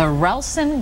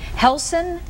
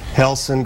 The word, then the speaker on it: Relson: will be Sunday at one o'clock at the relson Gracie Jiu Jitsu Academy Nelson did I say that right yes it's spelled r but it's pronounced with it it's Portuguese okay helson do it again then helson Gracie okay Jiu Jitsu Academy thank you on